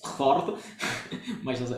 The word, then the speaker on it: Fjord: De hecho, fiordo es una castellanización de una palabra impronunciable que con J, porque ellos tienen la J que es como una I, que es Fjord.